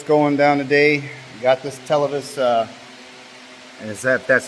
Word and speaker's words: Televes: Got this Televes, that's how you say it, antenna.